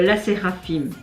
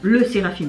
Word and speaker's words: LE SSERAFIM: beaucoup plus jeunes que La Séraphine. Comme ça qu'on prononce, le Séraphine, pardon. Je sais pas pourquoi j'ai envie de dire là, mais c'est le Séraphine.